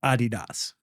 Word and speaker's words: Adidas: This is this is what people in track and field call it. I think that's the actual, you know, intended uh pronunciation of the German pronunciation. Yeah. So American track and field folk when they're amongst themselves say Adidas.